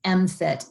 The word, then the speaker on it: MFT: We usually just say the acronym MFT, and the way we pronounce that is MFIT, and it's much easier to say 10 times out loud.